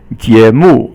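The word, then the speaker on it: 节目: And so then there's another character, 节目. 节 is second tone, and 目 is fourth tone, and it just means a program.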